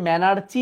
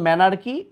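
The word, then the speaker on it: menarche: এই যে তিনটা জিনিস ম্যানার কি এই যে দেখো ম্যানার কি এটাকে আবার আগের বইয়ে ম্যানারচি বলতো বাট উচ্চারণ ম্যানার কি পিউবার কি থ্যালারকি এই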